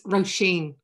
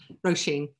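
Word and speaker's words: Róisín: It's Roisin. So you swing out at the end of it, Roisin.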